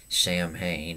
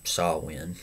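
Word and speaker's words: Samhain: Druid F festival called sawin and it has in it's spelled weird called s it's spelled s m h a i n yeah but it's not Sam Hayne It's s win so very weird and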